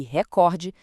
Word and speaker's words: recorde: E filantropo, gratuito, público e recorde são todas paroxítonas.